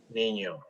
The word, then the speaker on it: niño: So this word, it's, how do we pronounce this one? Niño. Niño, correct.